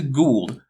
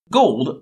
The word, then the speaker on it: Gould: Oh great, we get to get into Gould, whose name isn't pronounced Gold, but again, English might not be his first language, so he gets a pass.